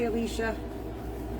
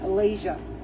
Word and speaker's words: Alicia: I had to ask Alicia how to say her name because I could not see it the same way of saying, my oldest daughter's name was Alicia. And I kept saying Alasia.